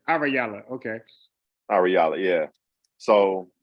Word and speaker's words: Ahrayahla: wow because I'm saying it wrong so it's arayala okay all reality yeah so um I feel